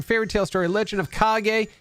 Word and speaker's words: Kage: pop outer zone fairy tale story Legend of kage it's pronounced kage not cage um Haley's comment at Bubble Bobble and we're